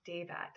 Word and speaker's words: Daivat: Daivat is a Hindi name that means powerful strength and can also be pronounced Devat as well.